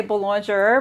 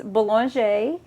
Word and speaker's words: Boulanger: Some people say Boulanger, but it's Boulanger in Houma, Louisiana.